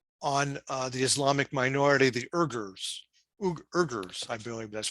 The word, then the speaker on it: Uyghurs: The Chinese wage a policy of forced sterilization and labor on the Islamic minority, the Uyghurs, I believe that's pronounced.